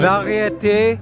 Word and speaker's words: variété: Saveur, Oh my variété, and confort.